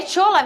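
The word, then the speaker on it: Shola: tchola mesmo que fala olha eu falo porque primeiro ele é nigeriano ele se a o nome dele é assim que se escreve s h o l a aí eu pronuncio dessa maneira é um atacante nigeriano que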